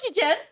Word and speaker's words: Chichen: it, but it's spelled Chichen. How would you say that? Chichen. Chichen. Chichen. It's like Chichen. Chichen. Chichen. Yeah. It's like two Chinese names put together. Chi and Chen. Chichen. You know Chichen?